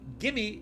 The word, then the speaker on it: gimme: So gimme is give me, but he gave me. You would never see this written down like this. I'm just writing it so you can see how it's pronounced.